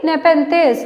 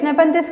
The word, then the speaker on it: Nepenthes: Just look at the pronunciation, listen carefully. Nepenthes. Nepenthes commonly called as pitcher plant.